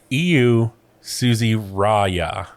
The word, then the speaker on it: Iiu Susiraja: I want to try to pronounce it, and I want to see if I got it right. I'm sorry. Iiu Susiraja.